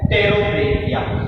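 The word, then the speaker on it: Pterobranchia: अब इसकी दूसरी क्लास आती है टेरोब्रैंकिया, या इसको जो बोलते हैं तो स्पेलिंग जो होती है टेरोब्रैंकिया लिखते हैं, यानी पी साइलेंट रहता है टेरोब्रैंकिया।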